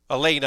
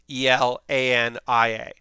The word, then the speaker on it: Elaina: And it is while it is spelled like it should be Alania, everyone in the show calls her Elaine. So Elaina, I should say. Everyone calls her Elaina, like Elena instead of Elania.